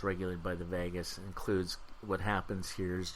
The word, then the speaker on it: vagus: state is regulated by the vagus kind of like pronounced like Las Vegas but it's the AG us if you're interested in